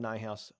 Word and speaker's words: Neuhaus: I needed to say my name is nigh house n house really the group I'm a broker